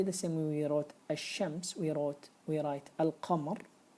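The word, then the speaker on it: الشمس: the the word hashems I'm not going to be able to pronounce the lamb after that I'm not gonna say El Shams I'm not gonna say that it's wrong we it's rather hashems lamb is not there we write it it's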